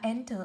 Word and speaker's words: enter: Âm thứ nhất chúng ta đọc thấy ta là enter, âm thứ hai cô là ơ. Trọng âm không rơi vào ơ, vậy nó rơi vào âm tiết đầu.